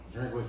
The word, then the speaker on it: Drinkwitz: That's how you pronounce his name? yeah, Drinkwitz.